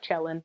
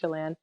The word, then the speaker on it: Chelan: Chalan c h l an it looks like chellin but it's pronounced Chalan and uh but my my handles on everything